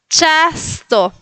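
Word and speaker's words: czysto: Y en el último ejemplo es chasto. La chi, pero sonriendo. Chasto. Chasto. Porque la c le sigue una i. Entonces cambia el sonido.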